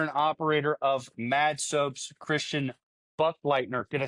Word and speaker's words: Christian Buchleitner: Today I have owner and operator of Mad Soaps, Christian Buchleitner.